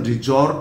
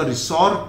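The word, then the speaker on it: resort: ध्यान दीजिएगा, इसका प्रोनाउंसिएशन रिजॉर्ट होगा, रिसॉर्ट नहीं बोलेंगे। अधिकांश लोगों को मैंने बोलते हुए देखा रिसॉर्ट, तो ये this is नॉट रिसॉर्ट, this is रिजॉर्ट। इसके दो मीनिंग है।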